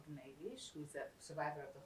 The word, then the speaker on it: Gniwisch: name and last name, and if you could spell it. IG: My name is Gniwisch, and the spelling is, for my first name, Gniwisch, G-N-I-W-I-S-C-H, for the last name.